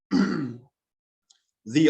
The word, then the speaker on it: the: And you might have noticed that I pronounced THE two different ways. So in front of a consonant sound, wheel, we say the wheel, the printing press, the nuclear bomb. In front of a vowel sound, automobile, we say the automobile, the internet.